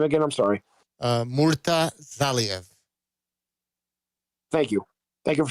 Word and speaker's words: Murtazaliev: And how do you pronounce the next man's name again? I'm sorry. Murtazaliev.